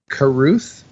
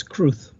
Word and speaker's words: Carruth: Is it Caruth? Is that Kareem Abdul-Jabbar? I don't know. I would say Caruth, but I don't know. Okay. Caruth? It's Cruth. One Cruth? syllable. Cruth. Cruth?